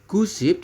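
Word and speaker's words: 구십: 9 itu gu ditambah dengan SIP jadi gu SIP. Seperti itu, teman-teman. Nah, apabila di sini diminta misalkan 95, teman-teman ya. 95. Pak, kalau 95 berapa? 95. Ya, 95 adalah gu SIP tetap ya.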